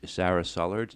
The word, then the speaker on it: Sara Sullards: the National Athletic Village, Sara Sullards. And did I pronounce your name right? Yes, that's correct. Do most people mispronounce it? They do, but it's okay. So it's just like it sounds.